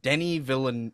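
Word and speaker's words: Denis Villeneuve: like a smart man what is his name Denny villain I know how to pronounce it correctly because I'm Canadian and I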